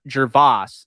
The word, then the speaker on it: Gervais: been telling me this, is that Jake Gervais, that's actually how you say his name.